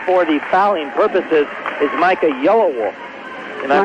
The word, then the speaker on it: Yellowwolf: Now into the game, basically for the fouling purposes, is Micah Yellowwolf. Am I pronouncing that right?